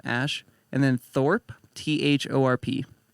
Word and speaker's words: Thorpe: name ash and then thorpe t-h-o-r-p oh there's no e no e it's not thorpy not thorpy he's cool though he